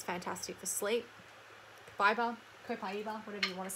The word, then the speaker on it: Copaiba: Next is the Kabiba soft gels, which I have not even opened yet. So you may have heard me, I mean, the correct pronunciation is Copaiba.